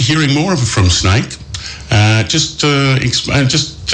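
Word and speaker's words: SNAICC: yeah okay so um but snake is spelled s n a i double c all right so you were not the reptile as as jetty just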